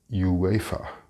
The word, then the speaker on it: UEFA: Maybe it's the UEFA Cup. Notice the pronunciation of UEFA. The U in English is always pronounced like you when it is at the start of the word, unlike the Spanish pronunciation.